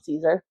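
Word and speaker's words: Cesare: It's just Adam Caesar.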